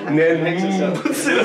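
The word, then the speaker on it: 念仏: How should we pronounce it? Well, Nin Butsu.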